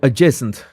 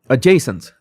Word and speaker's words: adjacent: Uh adjacent. Adjacent. Oh, the D is silent.